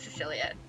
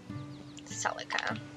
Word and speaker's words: Celica: Why do I keep pronouncing her name as Cecilia? I just like skip through it. Celica.